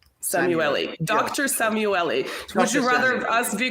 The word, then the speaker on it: Szamuely: into the topic that you you got my pronunciation more or less right but it's actually samueli Samu Dr samueli would you rather us be calling you DR